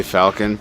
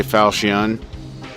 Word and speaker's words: falchion: You can say Falcon. I pronounce the ch as a K. Okay. Some say Falchion.